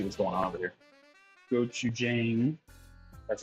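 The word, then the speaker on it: 고추장: Then I add, just a second, the rice, kimchi juice, water, and gochujang, which said 2 to 3 tablespoons.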